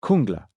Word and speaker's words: Jungla: Luke remembered being told by someone on an earlier visit, "It's pronounced Kungla."